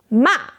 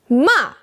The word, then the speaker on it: 骂: The pinyin is moa, ma. You can see the falling line above the a that marks the fourth tone. The pronunciation is start high, same as the fourth tone, then fall fast, just like we did with stop in English. Let's practice together.